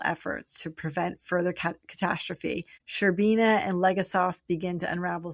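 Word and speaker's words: Shcherbina: Sherbina. We'll say Sherbina. It's lots of shs.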